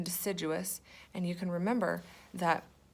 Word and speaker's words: deciduous: is called a deciduous the big word duh se-joo wes remember four syllables in deciduous and you can remember